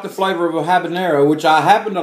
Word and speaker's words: habanero: some people say habanero but if you look the spelling it doesn't have the little wavy things so it's an in its habanero and how a peen